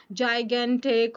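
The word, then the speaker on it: gigantic: So huge, immense, massive, जाइगेंटिक and colossal. Done. Spellings learn कर लेना है और इसके प्रोनाउंसिएशन को भी लर्न करना है। ये जाय होगा, ये ग होगा, ग। तो जाइगेंटिक, ठीक है।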